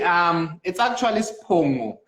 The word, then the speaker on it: Spongo: Because like I was pretty much, I wasn't sure if it's Fongo or Pong. It's actually Spongo, but nowadays I'm just like flexible with people.